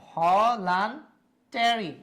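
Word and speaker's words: voluntary: তাই ওখানে লিখছিলাম তাহলে ভলান টেরি উচ্চারণটা কি হবে ভলান টেরি ভলান টেরি ট কিন্তু ভলান টেরি মনে থাকবে ভলান টেরি এন টি এ আর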